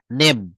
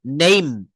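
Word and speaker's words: name: শব্দের শেষে ই থাকলে, কি থাকলে, ই থাকলে ই এর উচ্চারণ হয় না। যেমন আমরা বলি নেম, এন এ এম ই, তো এটা কি নেমি, আসলে উচ্চারণ কিন্তু নেমি হওয়ার কথা ছিল, কিন্তু এটার উচ্চারণ হয়েছে নেইম, এন এ এম ই, নেম মানে হচ্ছে নাম।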